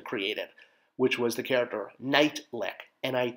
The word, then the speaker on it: Neitlich: which was the character night lick nit T Li i k which is how you pronounce my last name my last name being spelled very differently so um yeah it